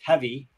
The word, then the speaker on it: HV: the board API Club every HV pronounced heavy so every heavy starts